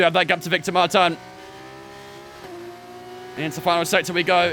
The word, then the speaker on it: Martins: Martins or martan um I thought it was Maran because the French pronunciation and I believe Alex Jakes says it as Maran as well so I kind of went off that that's what they were